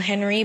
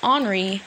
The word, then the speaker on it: Henri: differently same pronunciation however for h e and r i that's pronounced henri mine is pronounced henry and spelsh with a